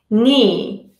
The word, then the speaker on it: knee: on the silent k k is silent when followed by n at the beginning of the word for example knife knife you need a knife to cut the meat knife knee knee I fell down and